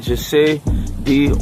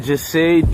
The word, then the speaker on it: Jahseh: Jahseh, and Fernando's giving me the proper pronunciation. I don't want to butcher it. We're at Jahseh. Wait, I want to say it properly too, the last name and all. Onfroy? Onfroy. We're here at Jahseh Onfroy cemetery site and burial.